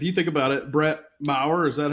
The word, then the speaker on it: Maher: Like, if you think about it, Brett Maher, is that how you say it? Or Mayer or whatever? Maher, yeah.